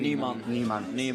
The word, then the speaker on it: Nijman: to the 50 of Nijman. Yeah. Is Nijman like the pronunciation? Niemann. Yeah, we are It's in the Sweden. pronunciation. Yeah. It means new man.